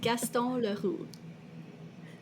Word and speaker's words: Gaston Leroux: It is Gaston Leroux, Thank you.